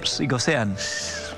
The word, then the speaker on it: psicosean: Porque además dice se psicosean, hay que pronunciar la P.